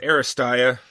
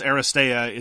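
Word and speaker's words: Aristeia: It's Aristia. Aristia? See, this is why I don't say these... I believe it's pronounced Aristea. Aristea. It's Greek in origin, but I don't know much about Greek pronunciation.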